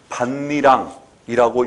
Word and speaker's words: 밭이랑: 그래서 이 단어는 반니랑이라고 읽어도 되고 밭이랑이라고 읽어도 되는데 이 두 단어는 전혀 다른 단어. 그러니까 이때는 반니랑이라고 읽어야죠.